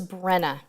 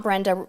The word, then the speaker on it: Brenna: so sorry i believe it was brenna brenna with a super chat not brenda rizzardi brenna i apologize that i